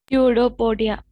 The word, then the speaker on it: pseudopodia: Pseudopodia. Pseudopodia. Even though the spelling is starting with the P, it is pronounced as pseudopodia.